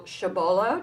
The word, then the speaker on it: Chabolla: And we are back, and as promised, we have our guests, Gregory and Michelle Chabolla. Did I pronounce it correctly?